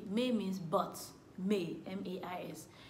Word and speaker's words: mais: May means but. May, M-A-I-S. The S is silent.